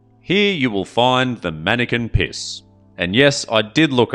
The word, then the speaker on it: Manneken Pis: Here you will find the Manneken Pis. And yes, I did look up if that was the correct pronunciation.